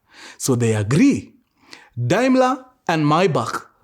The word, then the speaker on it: Maybach: Daimler and Mr Maybach Here we pronounce it as Maybach Mr Daimler and Mr